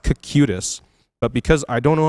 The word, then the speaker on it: Cocytus: I was like, "Hey, do you know how to pronounce this?" And he's like, "Yeah, it's coctus."